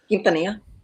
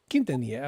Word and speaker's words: Quintanilla: Quintanilla? Pretty close. Give it to me. Quintanilla. Quintanilla. Oh, sorry, well, you just Spanish it up even a little more, but Quintanilla.